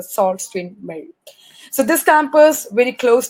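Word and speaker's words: Sault Ste. Marie: to call it so we call it as a Susan Mary Ontario rather we have to call it as a salt screen male so this campus when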